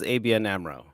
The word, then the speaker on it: ABN AMRO: Yes, and it is ABN AMRO. Oh, I pronounced it right the first time.